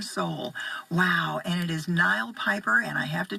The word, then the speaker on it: Knial: Wow, and it is Knial Piper, and I have to tell you, Knial is spelled with a silent K.